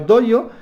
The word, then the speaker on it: Dojo: conceptos dentro de Japón, pero Doyo se escribe, ponérmelo ahí chicos, chicas, Dojo, se escribe D-O-J-O, el concepto 5 que estamos viendo.